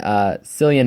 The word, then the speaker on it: Cillian: Even though I do like the main actor in it, Cillian Murphy, or Killian Murphy. I don't care how you say his name. I say it's Cillian Murphy, and that's how it is for me.